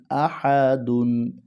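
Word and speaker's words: أحد: হা জবর হা আহা দাল দুই পেশ দুন আহাদুন যখন এখানে থেমে যাবে যাব তখন উচ্চারণটা হবে আহাদ কুলহু আল্লাহু আহাদ কুলহু আল্লাহু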